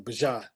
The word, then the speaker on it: Bijan: That's how you say it, pronounce his name, Bijan.